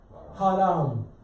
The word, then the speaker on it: Haram: happens, they will say Haram. Understand? So what two syllables are there? Ha, like in Hare or Hara, and Ra, like in Ram.